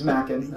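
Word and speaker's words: Machen: someone like and I'm not sure I'm pronouncing his last name right, Arthur Macken or Arthur Min. Oh absolutely it's Macken.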